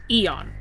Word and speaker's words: eon: but instead of pronouncing cuz this is pronounced eon normally but like to make the pun I am the birdie.